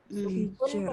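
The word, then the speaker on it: حجر: Yang di ayat kelima hijr, itu tipis. Hijr. Karena kita lihat di sini. Hijr ya. Contohnya ini. Lidhi hijr. Pas banget ya. Contohnya emang surat Al-Fajr nih. Ro sukun waqaf. Sebelumnya huruf sukun yang ja. Ja-nya itu sukun. Sebelumnya lagi kasroh. Hi-nya itu kasroh hijr. Hijr ya bacanya.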